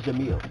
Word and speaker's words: Jamil: His name is Jamil.